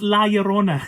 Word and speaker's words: La Llorona: came out, The Curse of La Llorona. It's La Llorona. It just drives me nuts. I mean, yeah. I understand it's a different language and stuff like that, but man, come on, you gotta say it right.